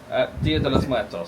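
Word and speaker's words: Día de los Muertos: - Dia de los Meurtos.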